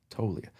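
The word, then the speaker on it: Toglia: No, it's not Tolia. It's like to That's how That's how you say it though. But there's like a V or something in there, isn't there? No, it's just silent.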